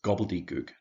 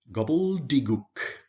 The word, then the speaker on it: gobbledygook: so you speak gibberish our last word is gobbledygook that's a noun as i said um lots of letters in there and the pronunciation can can be tricky if you try